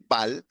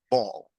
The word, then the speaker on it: ball: a l l and many students say Bal but the pronunciation is not Bal the pronunciation is ball ball similar to Alto